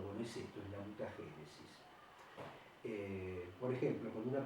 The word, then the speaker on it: mutagénesis: Y otra subdivisión de la genética también que es muy importante es la mutagénesis, con acento en la E, mutagénesis.